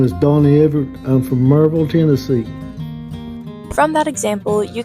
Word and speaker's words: Maryville: Maryville is commonly pronounced as Merville here in town.